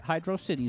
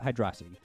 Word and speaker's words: Hydrocity: city zone video and he pronounced it hydro city zone whereas i pronounce it hydrosity that was one of